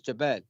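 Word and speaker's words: جبل: It's Jabal.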